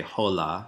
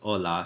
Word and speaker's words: hola: Don't pronounce the H. You wouldn't say hola, right? Hola, it's hola.